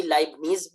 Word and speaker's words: لائبنیز: یہ اس کے اندر ٹے کی آواز کو شامل کر کے بھی لیتا ہے جیسا کہ اصل تلفظ